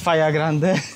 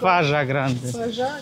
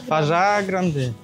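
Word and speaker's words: Fajã Grande: And we learned how to pronounce the name of this town. This is not Faja Grande, but "Fażaa Grande". "Fażaa Grande".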